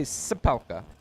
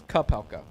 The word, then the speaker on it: Kapelka: See, I want to say Sapelka, but it's Kapelka. He's got Dave Rubel.